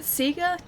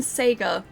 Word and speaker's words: Sega: what I'm sticking with, that Sega and Sega are both correct. They're just differences depending on where you are in the world. They're regional differences in pronunciation, because most Australians that I know who know Sega pronounce Sega as Sega.